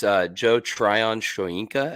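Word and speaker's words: Shoyinka: it's uh Joe Tryon shoenka I believe is how you say that second part of his name but uh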